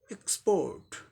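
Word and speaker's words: export: नहीं है, तो ये आर साइलेंट होगा ब्रिटिश इंग्लिश प्रोनाउंसिएशन में। और टी के लिए ट, एक्सपोर्ट स्पोर्ट पोर्ट, एक्सपोर्ट एक्सपोर्ट एक्सपोर्ट, ये ब्रिटिश हो गया।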